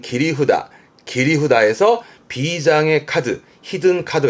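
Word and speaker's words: 切り札: 네, 일종의 비장의 카드, 히든 카드 같은 개념인데 발음은 기리후다.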